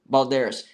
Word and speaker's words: Balderas: No, that's an R. Balderas. Balderas. I butchered your name bad. I apologize. But it is Balderas.